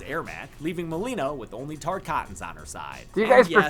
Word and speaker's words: Tarkatan: Joining her in side-swapping is creepy dead guy's Ermac, leaving Mileena with only Tarkatans on her side. Do you And guys yes, prefer it's pronounced Reptile Tarkatan.